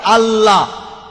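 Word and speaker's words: الله: সর্বশক্তিমান ঈশ্বরের একটা নাম হলো আল্লাহ, লেখা হয় ILA, কিন্তু উচ্চারণের সময় শব্দটাকে বলা হয় আল্লাহ।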